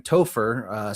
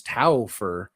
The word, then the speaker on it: Topher: Unlike me, this week I am Topher, spelled Toe-Fur. It's a fun little insight into me trying to write music for the show. For whatever reason, Suno was pronouncing my name as Taufer. Taufer.